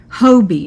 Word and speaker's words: Hobbii: So if you like these, you can use the word Hobie, and you got to spell it right.